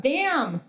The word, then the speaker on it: DAMN: year which was about damn yeah you have to say it like that it's it's dam which is the decentralized